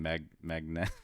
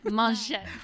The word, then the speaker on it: Mangette: So since you're talking about your new location that you're opening, so I'm gonna butcher the name Magnet. Mangette. Mangette. Okay, there you go. The French, Yes. Frenchy say it.